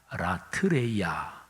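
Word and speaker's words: λατρεία: 이거는 라트류오, 명사형으로 말하면 라트레이아, 동사형으로는 발음하기가 조금 힘들어요. 라트류오 이렇게 되는데 그냥 명사형으로 예배라는 헬라어 단어가 라트레이아, 이게 바로 예배라는 단어입니다.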